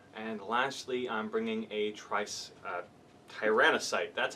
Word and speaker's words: Tyrannocyte: And lastly, I'm bringing a Tyrannocyte, that's how you pronounce it, and it's going to be having 5 Death Spitters.